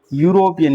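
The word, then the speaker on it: European: इसकी साउंड को यानी इसका प्रोनंसिएशन उच्चारण करके देखो। तो ये है यूरोपियन। यूरोपियन यानी यू यूरोपियन ऐसे लिखेंगे।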